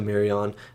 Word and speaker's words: Marion: he was talking to marion i'm sorry if i'm saying her name wrong i feel like it's mary it's not marianne though it's mary it's spelt m-a-r-i-o-n so marion when she was talking